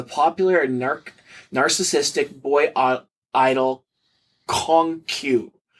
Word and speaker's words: Kong Q: He is a ghost singer-songwriter for the popular and narcissistic boy idol Kong Q, pronounced very similar to peacock in Chinese, who is very handsome but can barely sing.